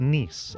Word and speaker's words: Nice: It's pronounced Nice.